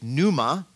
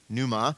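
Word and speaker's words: πνεῦμα: see in this case, pneuma, P-N, like pneumonia, pneuma, and then at the end you can see that T-I, pneumati.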